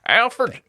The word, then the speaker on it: Alferd: And I'm not saying it wrong. It's some people say Alfred, right? Alfred was obviously his name, but he kind of embraced Alfred for whatever reason in his later years.